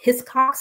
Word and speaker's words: Hiscox: insurance I use hiscox a lot it's called hiscox it is spelled h s CX but that's how you